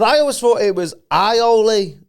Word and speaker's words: aioli: In French, it is said as aioli. Yeah. In English, aioli. Oh, although yeah? some also pronounce it as aioli, aioli. But to sound a little more French, aioli, aioli.